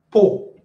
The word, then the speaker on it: peau: Peau. P-E-A-U se prononce peau.